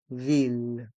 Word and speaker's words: ville: plan de la ville dans le mot ville les consonnes l restent en suspens ville un plan de la